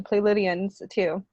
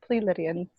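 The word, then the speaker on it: Pleiadian: document it says that it's play Lydian it's not plea Lydian and they say play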